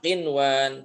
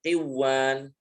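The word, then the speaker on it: قنوان: Jadi membacanya kayak tadi yang benar ditampakkan nunnya sinwan bukan siwan. Kemudian qinwan bukan qiwan kemudian addunya bukan adduy. Bunyan bukan buya.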